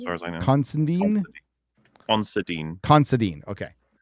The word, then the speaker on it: Considine: Patty, how do you pronounce Patty's last name? It's Constine, as far as I know. Constandine. Considine. Considine. Okay. Considine. Okay. I always say Constantine or Constantine or something like that.